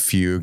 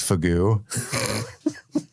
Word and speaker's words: fugue: something important uh and she pronounced Fugue as fagu and to this day